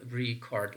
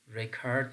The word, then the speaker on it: record: syllable word recurred so if it is functioning as a noun we have to place the stress pattern on the first syllable we can say the